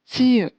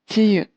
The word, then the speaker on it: 지읒: Next consonant is 지읒, 지읒, and it has the sound of J.